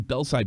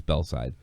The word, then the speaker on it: Belsize: I was in I was in Belsize Park. Belsize Park. That's the way it's spelled, but everybody says Belsize.